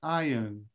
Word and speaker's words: iron: for example it says remember please remember to say iron so that it rhyme with lion it's iron okay listen to the